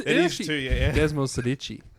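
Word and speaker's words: Desmosedici: Desmo Sedici. It actually has an S in it.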